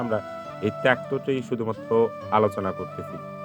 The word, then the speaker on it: ত্যক্ত: তো এটিকে যদি আমরা বিভাজন করি, তাহলে পেয়ে যাচ্ছি ক হসন্ত যোগ কি ত, অর্থাৎ দেখো ত্যক্ত থেকে আমরা পেয়ে যাচ্ছি তৈয়ক্ত।